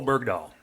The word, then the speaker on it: Bergdahl: And how do you pronounce that tourist name? Bergdahl? Bo Bergdahl.